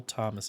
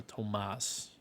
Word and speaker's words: Tomas: cool so that's all Thomas is going to tell us our Tomas as it was like to be pronounced back here all right Elsa where's